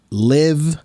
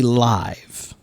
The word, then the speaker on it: live: Leaf, live, life. And live can also be live. So there's two pronunciations for L-I-V-E.